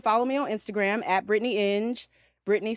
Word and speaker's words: Inge: me on Instagram Brittney in Britney spelled the correct way and um and in is i n it rhymes with binge as in binge in binge watch okay and also I